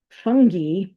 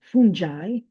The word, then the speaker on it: fungi: of bacteria, viruses, and fungi or some of us say fungi that lives in your intestines.